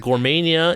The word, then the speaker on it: Gourmania: Point out that Gourmania is spelled G-O-U-R, as in gourmet.